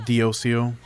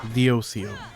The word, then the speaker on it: Diocio: Andrew, it's well, it's, I guess the best way is just Diocio. That's how you say my name, Diocio.